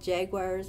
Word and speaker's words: Jagwires: And I work with the class, they actually called Jaguars, but it's spelled Jagwires, and they help me